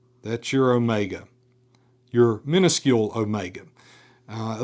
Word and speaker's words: omega: So that is omega always a long O sound as in note or dot or tote.